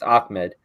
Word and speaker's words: Ahmed: Yeah, it's Ahmed.